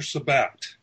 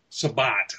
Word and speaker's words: Sabbath: Today came out Rick Lies Major Sabbat. Sabbat. It's spelled Sabbath. S-A-B-B-A-T-H. But everyone seems to want to pronounce that Sabbat. So that makes some sense.